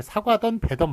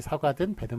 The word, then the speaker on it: 사과든 배든: 사용한다 자 그래서 뭐 발음을 사과하던 배던 마음대로 먹어라 이렇게 발음하는 경우도 있어요 그런데 그 발음도 잘못된 것이다 표기가 등이듯이 역시 사과든 배든 마음대로 먹어라 이렇게 사과든지